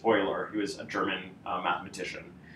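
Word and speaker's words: Euler: this word here is not pronounced uler which is what it looks like it's actually pronounced oer who is a German mathematician um and so uh Oiler method is the simplest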